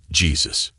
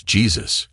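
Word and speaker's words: Jesús: shot donut shop owner Jesus I smirked you're saying it wrong it's Jesus and I'm not the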